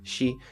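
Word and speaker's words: 四: es el 4, porque en origen se pronuncia shi, que también significa muerte o morir, y hasta se le dio una doble lectura a toda la palabra.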